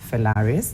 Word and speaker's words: Felaris: So let's start with the pronunciation of it. It is Felaris.